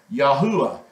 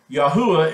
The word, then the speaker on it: Yahuah: it has the ah sound so you have yahuwah yahuwah is how you pronounce the Creator's name so we're going to